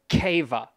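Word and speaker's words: Caoimhe: even heard this one c-a-o-i-m-h-e c-a-o-i-m-h-e yeah o-i-m-a oh that's so many vowels it's pronounced keva incredibly silly gimmick talk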